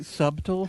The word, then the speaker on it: subtle: Scotty, did you just say subtle? He's making fun of me. Oh, okay. If you listen to last week's show, it makes a lot more sense. Apparently, I like to pronounce the B.